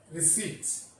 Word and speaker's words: receipt: Now, next term is receipts. Remember, while pronouncing this word, P is silent.